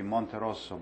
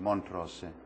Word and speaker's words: Montrosse: Yes, if I pronounce it in my Italian way, it would be Montrosso, but in English it's Montrosse, which is very close.